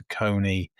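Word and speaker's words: Saucony: likely you might see Sakin sometimes pronounced Sakonei or Mazuno there's there's a lot of there's a lot brands out there.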